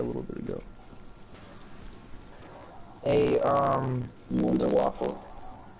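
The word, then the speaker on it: Wunderwaffe: Wonder it's the Wonder it's the Wonder WAFF not wonder waffle just wonder waffle that's what Rick say cuz that's how you say it in German or whatever um should I keep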